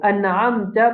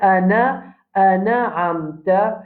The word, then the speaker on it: أنعمت: Alors, an'amta, pareil. Nous pouvons dire an'amta. Ne pas dire ana amta, n'est pas bon.